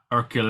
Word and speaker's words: Hercule: And so Tina Fey and Hercule he says his name so well in the movie, like he doesn't even pronounce the H. It's like Hercule Hercule Poirot.